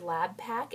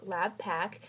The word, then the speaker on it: LabPaq: and over again is the word lab pack l-a-b-p-a-q and so that's how that's pronounced lab pack and i wanted to